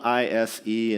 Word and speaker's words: Ise: This is it's spelled I-S-E in English, Ise Temple.